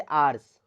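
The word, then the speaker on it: hours: एन लगता है जैसे आर्स एच ओ यू आर एस यहां पे एच क्या है साइलेंट है तो हम लोग इसको जब प्रोनाउंस करते हैं तो हमारे साउंड में ओ आता है तो इसलिए यहां पे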